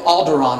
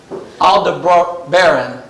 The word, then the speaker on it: Aldebaran: pollocks and arcturus and i always want to say alderaan on this but i know it's not alderaan this alda bro baron and if you have